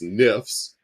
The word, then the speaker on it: NFFS: We call ourselves NIFS, right? It's hard to pronounce a word with no consonants, but our acronym NFFS, we pronounce NIFS, and that's how I'll refer to myself going forward.